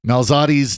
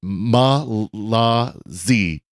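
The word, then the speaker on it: Mallozzi: Susan Gardner 19 on Twitter says, Father Cory, with all respect, please learn that Joel Malzati's name is pronounced Malazi. Malazi.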